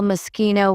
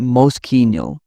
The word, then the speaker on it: Moschino: People often call Moschino with a sh. Italians pronounce it Moschino with a clear K.